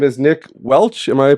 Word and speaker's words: Nick Welch: from ordinary and and uh his name is Nick Welch am I pronouncing it properly correct awesome Nick Welch and